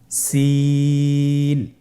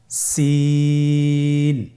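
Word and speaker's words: سين: সিন হরফটি বারিক হরফ পাতলা করে উচ্চারণ করতে হবে। তাহলে আমার সাথে বলুন সিন। আবার বলুন সিন।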